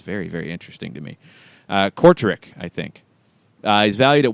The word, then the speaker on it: Kortrijk: Belgian and Dutch pronunciations, very, very interesting to me. Kortrijk, I think.